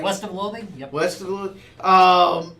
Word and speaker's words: West of Loathing: Western of Loa did I say it right west of loathing yep west of Lo um is just it's